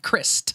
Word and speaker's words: Crist: 1945 in Aberdeen Washington his last name is like that of a potato chip in England kr is T Crist Oh Crist yes like Christ yes like that but spell like pronounced differently so you don't seem pretentious he's very crisp like